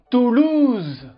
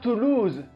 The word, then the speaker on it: Toulouse: grande ville de france en nombre d'habitants fait toulouse toulouse pas toulouse et non toulouse il y